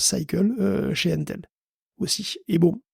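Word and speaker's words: SYCL: Il y a ROCm chez AMD, et il y a Cycle, alors c'est écrit SciCL, mais ça se prononce Cycle, chez Intel aussi.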